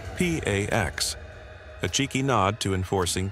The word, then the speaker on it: P4X: He adopts a pseudonym P4X, pronounced P A X, a cheeky nod to enforcing peace through punishment.